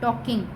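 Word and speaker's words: talking: Next है WHO who mean कौन, IS is mean है, TALK टॉक, टॉक, ING टॉकिंग। टॉकिंग में ये जो L है ये साइलेंट है, इसकी आवाज़ नहीं आती।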